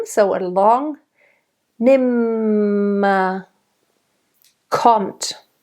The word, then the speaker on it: kommt: Kommt. Kommt. Again, very nice hard t.